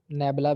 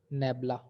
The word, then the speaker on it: nabla: या डेल बोल लेते हैं, नेबला भी बोलते हैं, यानी कि NABLA, नेबला। तो ये नेबला भी बोलते हैं इसको और डेल भी कह सकते हैं सिंपल। तो आप जो मर्जी इसमें से इसको प्रोनाउंस कर सकते हैं।